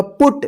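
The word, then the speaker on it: put: ठीक है, देखिए यहाँ पे पी यू टी, अब यहाँ पे आपको पढ़ना होगा पुट।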